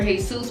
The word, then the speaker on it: D Jesus: Jesus, but the way you spell it is D Jesus.